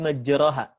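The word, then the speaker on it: مجراها: surat hud 41 bismilahi majreha bismilahi majreha kita tahu di situ bukan roh tapi dimiringkan ke khas telah jadi Bismillah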